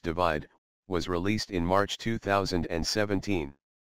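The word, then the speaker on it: ÷: album worldwide of 2015 shirin's third album / pronounced divide was released in march 2017 the album debuted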